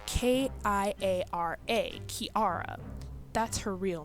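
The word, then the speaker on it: Kirara: Kilala's name really isn't Kilala. It's actually Kiara.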